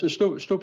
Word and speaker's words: stoep: Yes, stoep is a normal Dutch word for the sidewalk. We just spell it a little bit different with an OE instead of double O. And by that you pronounce it exactly the same.